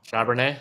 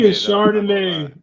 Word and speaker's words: Charbonnet: Is that how you pronounce his name? I think so. Charbonnet? I've been saying Chardonnay. Charbonnet? I've been saying Chardonnay the whole time, bro.